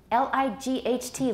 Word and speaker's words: light: english spelling so strange l-i-g-h-t light we don't pronounce the gh but in german it's leaked that tells you that that gh used to be pronounced something like so it used to be something like the german lift but now it's light the gh is gone so our spelling system